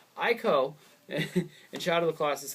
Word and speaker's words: Ico: I know people are like Eco. Don't pronounce it I like I. You're retarded. Eco. I don't care. Ico and Shadow of the